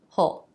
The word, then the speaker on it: he'll: In a sentence, this will be more like he'll or hull.